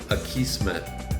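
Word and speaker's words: Akismet: let me actually see a key smith is how it's pronounced the Kismet um spam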